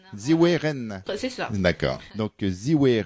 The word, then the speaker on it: Zhiwei Ren: C'est comme ça qu'il faut prononcer Ziwe Ren.